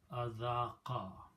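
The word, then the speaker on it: أذاق: And when you have a fatha on the waw, it sounds like an alif. So the word actually is azaqa.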